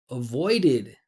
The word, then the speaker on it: avoided: Avoided. Avoided. Two syllables in present, three syllables in past.